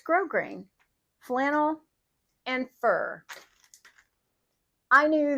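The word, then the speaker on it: grosgrain: This is grow grain ribbon. And by the way, that's how you pronounce it. It's spelled G R O S grain. It's not gross grain or gross grain. It is grow grain.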